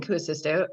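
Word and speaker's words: Kuusisto: about him so stephen cuocisto acoustico is um and it's actually k-u-u-s-i-s-t-o so i always want to stick an extra you in there so forgive me if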